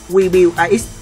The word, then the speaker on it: QBIX: Đó là kiểu chơi chữ khi WBAX phát âm giống như Cubit, khối lập phương rất nhiều màu nổi tiếng.